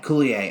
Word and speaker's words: Kaluuya: Am I pronouncing it? Kaluuya. Kaluuya.